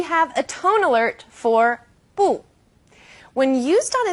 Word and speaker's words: 不: In this case, 不 is special. It's an exception in the world of fourth tones.